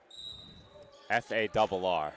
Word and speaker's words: Farr: F-A-R-R. As far as I'm concerned, that's far.